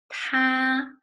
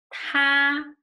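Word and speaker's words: 他: with this radical so two characters they pronounce the same both of them is ta but this one is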